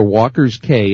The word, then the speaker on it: Walker's Cay: of Toronto Ontario Canada so we are walkers K and by the way that K is spelled with a C so it's walkers k